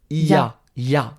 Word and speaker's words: il y a: Et il y a Est-ce qu'on dit il y a ? Non, on va dire il a donc en fait quand on parle vite, on dit i et pas il.